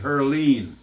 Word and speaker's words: Heerlen: Yeah, I think we really started in Heerlen. Heerlen. Here, Or yeah. Yeah, we pronounced it. We pronounced it Herleen.